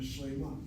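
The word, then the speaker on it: שלמה: And watch how we do this. Shalem is two syllables. The medial kamatz is one place removed from the accent. It's shalem, the accent is on the tsere. And then when you add that particular kamatzeh, you have the accent here. The kamatz now reduces to a shvana.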